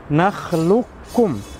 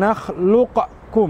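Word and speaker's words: نخلقكم: tadi yaitu kita katakan nakhlukum Jadi bukan nakhluqkum bukan tapi naklukum langsung dimasukkan ke huruf Kaf seakan-akan huruf kafnya tidak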